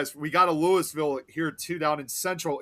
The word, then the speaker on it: Louisville: if you come from Louisville, Kentucky, that city, but we may have the exact same name, but that's not how we pronounce it over here. It's Louisville, period."